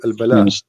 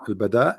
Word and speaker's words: البداء: or al-bala? What? Sorry. I'm trying to understand what you are saying. Al-bala or al-bada? Well, Bada. al-bada With dal, yes.